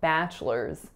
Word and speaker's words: bachelors: our next sort is bachelors bachelors so this one looks like it's bachelors or bachelors but there's only two syllables being pronounced and we say bachelors so the first one